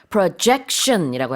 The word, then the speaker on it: projection: project 할 때는 강세가 앞에 있지만 projection이라고 할 때는 강세가 두 번째 음절에 있습니다.